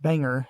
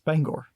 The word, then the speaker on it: Bangor: out of these recordings it's not pronounced Banger after all it's Bangor yeah it's pronounced how it's spelled yeah yeah I I